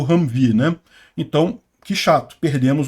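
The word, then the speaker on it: Humvee: não é uma blindagem muito forte e se pronuncia ramv enfim eh esse esse jip aqui então ele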